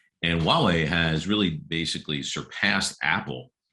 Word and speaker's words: Huawei: it's spelled hu a we y but it's pronounced Wawa and Huawei has really basically surpassed Apple in China's market